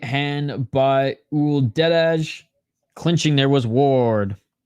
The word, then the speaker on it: Uldedaj: nice right hand by o deage clinching there was Ward okay the J is silent got you 1 minute